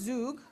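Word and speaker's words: zhug: So it's pronounced zug.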